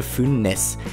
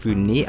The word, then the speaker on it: Funès: ich ohne zu überlegen, der Franzose Louis de Funès. Er ist der Sohn spanischer Einwanderer, daher wird er nicht französisch Funès ausgesprochen, sondern spanisch Funès.